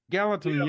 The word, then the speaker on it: Gallatin: Gallatin, yeah. Okay. Gallatin, okay. Gallatin, Tennessee. Yeah, not Gatlinburg. That's East Tennessee. Nice. You getting any rain? Yeah, we'll await his answer. Maybe he's Gallatin is probably near Gatlinburg.